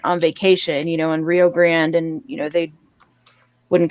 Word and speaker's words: Rio Grande: too but like it's supposed to actually be uh pronounced uh rio grande you know like for real spanish like uh mexican or